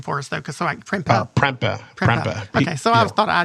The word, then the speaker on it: Prempeh: Prempeh. Okay, so I thought I did have it right, but it's spelled a little interestingly.